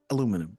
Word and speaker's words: aluminum: Um you know, the English say aluminium and the Americans say aluminum, right?